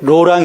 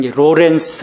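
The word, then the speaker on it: Laurent: 먹은 조금 다르지요 하나님의 현존 연석 아 부활의 로랑 형제입니다 어 부터 영어식 발음 그런 로렌스 라고 1초 아 이빨이 로랑 형제는 2 하나님의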